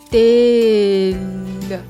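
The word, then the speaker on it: дээл: 일 발음을 어떻게 하냐면은 일단 일랄 살짝 혀을 살짝 집어 준다는 느낌으로 그리고 천정에 붙여주면이 소리가 나요. 그래서 딜르 오케이 자 몽골 데일부터 볼게요.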